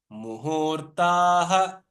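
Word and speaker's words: muhūrtaḥ: Muhurta, but why they have given the ha is because this visarga actually must be pronounced in full. That is muhurtaha kshapaha kshanaha.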